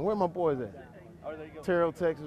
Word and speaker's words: Terrell: Terrell, Texas. That's where I'm from. 28 miles east of Dallas, if you're checking. Some people spell it with an E. I say it with a U. Terrell.